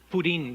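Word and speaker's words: pudín: in that donut and Pudin that's how you say it in Spanish pudding and uh but no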